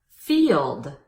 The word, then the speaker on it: field: interviews application employment experience field field is a one-syllable word but it's much easier to pronounce if you think of it as two syllables and if you use